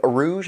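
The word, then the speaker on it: Urouge: talk about it being a Rouge from the Rouge that's how you say it the the final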